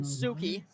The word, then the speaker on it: Suki: It's pronounced Suki, just so you know. Scratch that, Caden Suki.